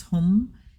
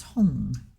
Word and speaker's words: Hung: In the Sanskrit, it's Hum. In Tibetan, it's Hung.